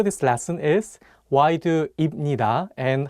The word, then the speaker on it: 입니다: For example, if you just read the Hangul on their own, you might want to say 입니다 and 합니다. But the correct pronunciations are actually 입니다 and 합니다.